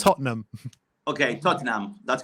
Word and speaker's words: Tottenham: Tottenham it is it's spelled Tottenham but it's pronounced Tottenham okay Tottenham that's correct full agreement or The